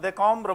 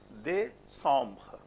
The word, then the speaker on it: décembre: Not decombre, why? Because it's followed by E. And then what happens? E is with C or E is with M? Because you have on, EM, and you have CE both. So one E can have functions. In terms of writing, it is one E, but when you pronounce, the function is that it is playing both. Décembre.